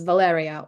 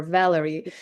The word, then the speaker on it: Valeria: But I figured that for English-speaking people, it's much easier to pronounce it as Valyriia or Valerie.